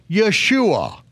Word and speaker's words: Yeshua: earth with the divine instruction to call him Yeshua why because yoshiya he will save his people